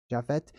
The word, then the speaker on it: Japheth: named after jeffette right jeffette is is pronounced or spelled j-a-p-h Jeff jaffet but that P is is a ancient letter that can be pronounced as an F or a p just like our our word phone right it goes on